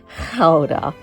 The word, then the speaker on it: Gouda: We headed over to the cheese farm where they walked us through how their famous Gouda cheese is made. I learned it's not gouda, it's actually ka.